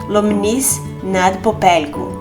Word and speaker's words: Lomnice nad Popelkou: Começamos pela cidade natal do tetravô Frederico, Lomnice nad Popelkou, e mal sabíamos pronunciar esse nome.